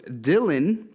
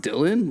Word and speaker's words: Dailon: the conversation is it is it pronounced Dylan like your name or dial on so I would think it's dial on it's da ILO in